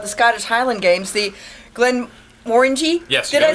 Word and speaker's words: Glenmorangie: We're here to talk about the Scottish Highland Games, the Glenmorangie?